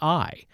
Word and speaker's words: Ai: And also, let's mention not just Jericho, but we're going to get into in a future podcast, Ai, spelled A-I. Some pronounce it A-I, but it's Jericho and Ai constitute the two most important cities for the purpose of investigation into the Bible.